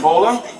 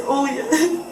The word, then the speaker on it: Oya: How do you say your first name? Bola? It's Oya. What is it? Oya. Olya?